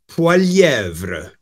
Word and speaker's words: Poilievre: Poilievre. Polivere. Polievre. Polievre. Polievre. I'm gonna pretend I'm not Quebecois. Poilievre. Continue. Polievre. It's a French name, and you know. It's Quebecois.